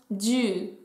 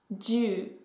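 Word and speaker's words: じゅう: Et enfin, le chiffre 10 en japonais se prononce ju, ju.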